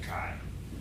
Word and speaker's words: Kay: new dog name is kai i spelled k-a-y but it's pronounced kai the old dog is